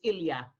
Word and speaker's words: Ilya: How do you pronounce that name? Can you see it? Oh, yes, yes. I don't want to say her name in case she's being incognito. Oh, yeah. Okay. So she said, she gave me a compliment, right? Or she's a lovely compliment. She says we can say her name. It's Ilya.